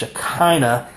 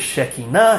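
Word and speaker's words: Shekhinah: of the father and normally that word shea is pronounced shikina by most English speakers and most people have the misperception that shakina means glory. Shakina does not mean glory. Um the actual pronunciation of the word is sheina and what it really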